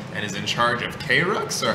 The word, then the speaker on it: KRUX: in Las Cruces and is in charge of K-Rux, or how is it pronounced? Crux.